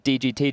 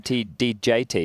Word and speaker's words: DGT: Someone said his name's DGT, Jason, not DJT.